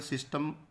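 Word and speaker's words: tsetse: लिखा था ना, उसको सीसी फ्लाई भी कहते हैं ग्लोसिना को। तो सेकेंडरी होस्ट जो ट्रिपैनोसोमा का है उसका नाम है सीसी फ्लाई, टी T silent रहेगा, सीसी फ्लाई।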